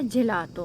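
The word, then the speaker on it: gelato: दूसरा शब्द यह जेलैटो है। वह है, आइसक्रीम। यहां भी तुम जान लो कि 'जी' तो 'e' उसके बाद आता है। यह नरम है।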